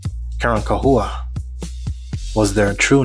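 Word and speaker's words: Carancahua: Their name was changed over time, twisted by Spanish tongues who couldn't pronounce the original word. Karan Kahua was their true name, spelled C A R A N C A H U A.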